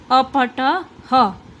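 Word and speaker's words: अपठः: कहते हैं संस्कृत में, और संस्कृत में ये विसर्ग को ह के उच्चारण में बोला जाता है, यानी कि इसका उच्चारण ह होता है। तो मैं यहाँ पे विसर्ग लगा दूंगी, अपठ ह, इसका उच्चारण क्या होगा? अपठ ह।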